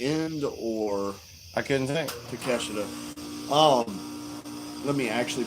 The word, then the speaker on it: Takeshita: Takeshita? Let me actually pronounce his name right instead of being Jim Cornette and being an asshole.